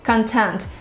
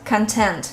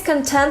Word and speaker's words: content: this word correctly and you put the stress on the last syllable content content not content but content for instance he's content living in his hometown